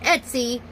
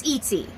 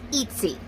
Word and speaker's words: Etsy: It's not Etsy, it's Etsy. Okay, that's how it's pronounced. It's Etsy.